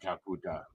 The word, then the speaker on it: Kakuta: this goes down oh now kakuta now kakuta that's how you pronounce it thank you Mr